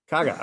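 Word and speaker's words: KGaA: Merck KGA, is that it? Kaga, okay, Merck Kaga has collaborated with another European company called Neuroloop to treat inflammatory disorders.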